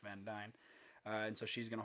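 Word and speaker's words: Van Duyne: uh from from beth van dyne and i'm fairly certain that's how you pronounce that her name is spelled d-u-y-n-e but everything that i've seen is said beth van dyne uh and so she's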